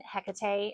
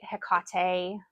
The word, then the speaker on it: Hecate: Uh, if you are interested in Hecate, Hekate, um, there's a third way to pronounce her name, Hecate. All of those are valid ways of saying her name, by the way.